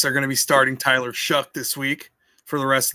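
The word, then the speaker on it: Tyler Shough: Now pronounce that again ex the right way. Like you said, Tyler Shuck.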